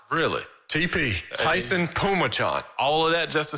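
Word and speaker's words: Taisun Phommachanh: So it's Taisun. That's pronounced Tyson. And Phommachanh. So it's Tyson Pumachan. Really? TP. Tyson Pumachan.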